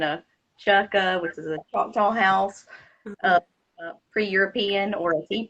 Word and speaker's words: Choctaw: So was this in, let me see, the Tales of a Choctaw Girl? Am I saying that right? I wasn't sure how to say it. Yeah, Tales of a Choctaw Girl.